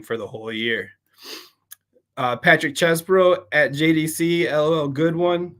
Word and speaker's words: Chesbro: Patrick Chesbro, pronounced chess as chesty puller and bro as in you bro.